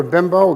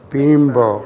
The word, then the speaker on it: Bimbo: to pronounce that correctly it's not bimbo all right no but it's bean bro Ryan ro but that's correct that it's bean bow yeah being properly and